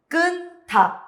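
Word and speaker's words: 끊다: Kunta. Suena la J se omite, pero hay un choque de sonidos. Le acompaña la siguiente sílaba y se lee kunta. Kunta.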